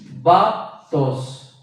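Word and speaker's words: βάπτω: Y viene de la raíz, o del verbo más bien, del verbo primario del griego, claro, baptos, B-A-P-T, o bapto, con acento en la A, B-A acento P-D-O, bapto.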